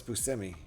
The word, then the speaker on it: Buscemi: I'm going to go with what the guy we're talking about says. Crazy, though. I think everyone pronounces it wrong.